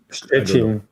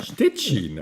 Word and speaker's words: Szczecin: How do you pronounce it in Polish? Szczecin? Szczecin. Yeah. Stettin.